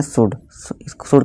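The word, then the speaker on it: should: इस तरह के एग्जाम्पल होते हैं शुड का मतलब होता है करना चाहिए। इसे साउंड नहीं पढ़ेंगे दोस्तों, इसका आप ध्यान रखनी।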